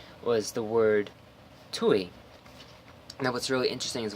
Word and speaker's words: Tui: And what's funny is that I actually pronounced it correctly. Most people, they'd see that and they'd say toi. But I just intuitively, unknowingly, intuitively said Tui.